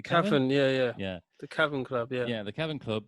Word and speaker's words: Cavern Club: just not making any profit so uh liverpool's caravan club um is it a carving club is that you pronounce it and caravan club oh um one